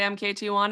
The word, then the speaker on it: MKT1: I say Market One, but I used to say MKT1. It's a bad name. It's Uh, conversational. Nobody knows how to say it.